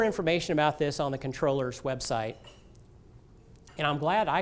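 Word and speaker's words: comptroller: there there's more information about this on the controllers website and I'm glad I actually called them this morning and I'm glad I did because I had been pronouncing at comproller and they said controller so in case you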